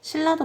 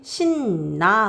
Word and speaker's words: 신라: 그래서 이런 현상이 생긴다 신라도 마찬가지입니다 신라도 보니까 앞글자 받침은 니은이 니은 비음이 뒤에 있는 유과 만났어요 그러니까요 굳이 신나 하는 거보다 차라리 뒤에 있는 유음의 영향으로 처음부터 신라 이렇게 발음하는게 훨씬 편하거든요 자 그런 이유 때문에